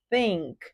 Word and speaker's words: think: auxiliar What does she pronúncia desse think th coloca a língua no meio do dente ó think vou trazer mais dicas